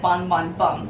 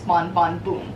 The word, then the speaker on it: Bon Bon Bum: Because that's how the name is supposed to be pronounced. It's to avoid any bum-related confusion. So I just said Bon Bon Bum, but it's Bon Bon Boom.